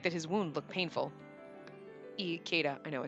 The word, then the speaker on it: Ikeda: Ikeda. I know I said Ikeda. I can't. I don't know why. I don't know why my brain won't say like Ikea. It's E. E, not I. It's pronounced E, Spacey!